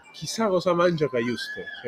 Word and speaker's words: Cajuste: Pronuncia Kajust.